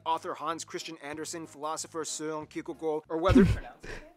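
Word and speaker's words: Søren Kierkegaard: hans christian andersen philosopher seung ki or weather that's actually how you pronounce his name it's not soaring kierkegaard it's or whether it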